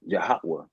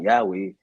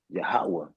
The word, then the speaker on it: Yahweh: on my wrist yhwh and they it's really pronounced yahwa you know what I'm saying like it's not Yahweh it was yahawah and then it elevated to Aha you know